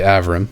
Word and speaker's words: Avram: You would say Avram, not Abram.